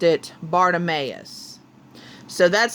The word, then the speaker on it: Bartimaeus: author, or not the author, the audio narrator pronounced it Bartimaeus.